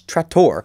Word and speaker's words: Trator: was like, oh, that's not Tractor, that's Trator. Yeah. Oh, I've been calling him the wrong name. Well, it's like the American, I think, you know, or the English version of Trator. Yeah, but it's spelled differently and it's pronounced differently because it's a different word.